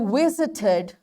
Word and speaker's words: visited: For example, I visited the Islamabad city. Now this ed, before this there is t sound, and this ed is pronounced as it.